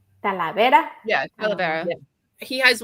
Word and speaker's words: Talavera: Talavera? Talavera.